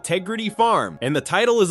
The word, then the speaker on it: Tegrity: farmer would pronounce it, with the first syllable swallowed and the whole word given a rustic inflection that signals authenticity to the people he will be selling to.